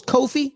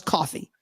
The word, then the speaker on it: Ko-fi: yeah it's coffee I I thought it was Kofi but now it's coffee like you're buy I